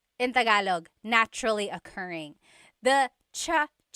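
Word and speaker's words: tsaa: good almost polyglot said it's like the word cha cha inog is tea like the tea that you drink and it's spelled TSA a cha cha that's such a talug spelling I love it there's the TS sound and then the double vowel uh pronunciation cha it's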